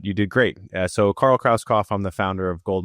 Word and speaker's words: Krauskopf: So, Carl Kroskoff, I'm the founder of Gold Multif Family.